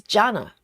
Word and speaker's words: Jana: And Jana says, hey Yogi, name is pronounced like Jenna, but with an R instead of E. So it's Jana.